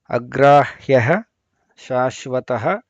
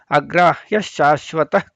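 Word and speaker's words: ಅಗ್ರಾಹ್ಯಃ ಶಾಶ್ವತಃ: ಹೋಗೋಣ ಅಗ್ರಾಹ್ಯ ಶಾಶ್ವತಃ ಕೃಷ್ಣೋ ಶಕಾರದ ಹಿಂದೆ ವಿಸರ್ಗ ಬಂದಾಗ ಅಗ್ರಾಹ್ಯಹ ಶಾಶ್ವತಃ ಅಂತ ಬಿಡಿಸಿ ಹೇಳಬಾರದು ಪದಗಳ ಶ್ಲೋಕ ಒಟ್ಟಿಗೆ ಹೇಳುವಾಗ ಅಗ್ರಾಹ್ಯ ಶಾಶ್ವತಃ ಕೃಷ್ಣೋ ಅಲ್ಲಿ ವಿಸರ್ಗ ಬದಲು ಶ ಗೆ ಶ ಒತ್ತು ಕೊಟ್ಟು ಅಲ್ಲಿ ಉಚ್ಚಾರಣೆ ಬರುತ್ತೆ ಅಗ್ರಾಹ್ಯ ಶಾಶ್ವತಃ ಕೃಷ್ಣೋ ಆಮೇಲೆ ಇಲ್ಲಿ ಲೋಹಿತಾಕ್ಷ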